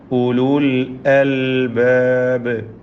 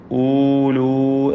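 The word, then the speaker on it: أُولُو الْأَلْبَاب: ഹും ഉലുൽ അൽബാബ്. ഹും ഇതിലുള്ള സാക്കിന മീമിനെ ഇൽഹാർ ഷഫവി നൽകി മണിക്കാതെ വെളിവാക്കണം. ഉലുൽ അൽബാബ്, ഉലുൽ അൽബാബ്. ഇവിടെ ഊലു എന്നൊന്നും ഉച്ചരിച്ച് പോകരുത്. ആ വാവ് ഉച്ചാരണത്തിലില്ലാത്ത അക്ഷരമാണ്.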